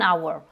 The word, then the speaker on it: hour: dont la lettre H, mais on a quelques rares exceptions, et celle-là en fait partie, c'est-à-dire que our, leur, on a un H, mais qu'ici on ne prononce pas.